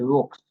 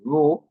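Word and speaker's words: Droux: It is not pronounced the rooks or the rook is French and is pronounced the all right and it is named after the the house the house the ru is named after Robert James the ru and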